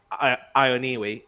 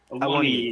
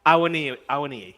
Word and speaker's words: Awoniyi: of Brennan Johnson, Taiwo Ioniwi, did I pronounce that correctly, Des? Awoniyi. Yeah, Awoniyi. Yes, good.